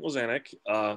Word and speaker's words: Lizanecz: So my name is Lizanecz. That's how you pronounce it.